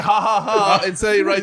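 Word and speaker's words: jaja: silent in English but the J is pronounced as an H yes the H is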